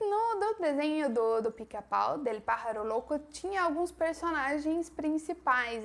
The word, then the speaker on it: pájaro: Em espanhol, o J tem esse som do R nosso, então pájaro se escreve com la J, pero la pronunciación es como la R de português. Pájaro, el pájaro loco.